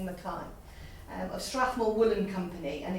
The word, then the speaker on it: Mackay: So it was designed in 1989 by Arthur Mackay, I pronounce that, some may say Mackey, Scottish heritage, so I'm saying Mackay, of Strathmore Woolen Company, and it was at that point known as the Air Force tartan.